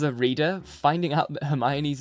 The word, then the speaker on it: Hermione: language schools as a reader finding out that Hermione's name is pronounced Hermione in the Goblet of Fire was